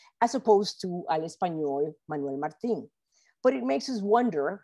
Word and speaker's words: Manuel Martin: We don't know why Ellen Stewart pronounced Manuel Martin's name a la française, Manuel Martin, as opposed to al español, Manuel Martin.